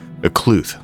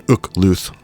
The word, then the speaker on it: Okluth: Okluth. Okay, so I guess you put the accent on the second part, which makes it flow a lot more than Ukluth. I was doing a little more Klingon, I guess, in my interpretation.